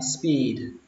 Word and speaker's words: speed: các bạn đọc là speed limit sign. Speed limit sign, speed limit sign. Từ đầu tiên, từ tốc độ thì các bạn đọc nó kéo dài chữ y ra, speed, speed, speed, speed limit sign, speed limit sign.